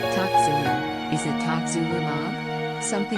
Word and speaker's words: tocilizumab: Toczulu, is it toczulumab? Something like that, Professor Whitty replies. Tocilizumab folks, the PM declares, after calling it Tocizzy again.